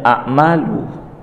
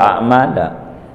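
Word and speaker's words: أعمالُ: Tapi di sini nih dibacanya a'malu, enggak a'mala. Sebab apa? Sebab innanya ada tambahan ma. Ada tambahan ma zaidah namanya.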